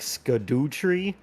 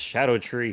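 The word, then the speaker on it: Scadutree: the word is like sco tree like sco tree fragments but apparently according to the devs themselves it's pronounced Shadow tree fragments they just spelled it like for an old way of saying Shadow I guess you know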